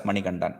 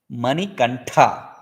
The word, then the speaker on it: Manikantha: So they read it as Manigandan, pronounce it as Manigandan, and transliterate in English also as Maniganda. But Maniganda is not the right word. Manikantha. Mani iva kantha, throat, not ganda.